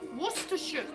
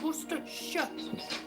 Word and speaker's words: Worcestershire: But I use Liam Perring's Worcestershire. Not Worcestershire, it's Worcestershire. Can you all say Worcestershire? There's no Shire in Worcestershire, although it does say Shire. That's not how it's pronounced Worcestershire.